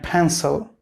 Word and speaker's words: pencil: The correct pronunciation will be pen and pencil. You should be careful about the first sound, P. It will be aspirated.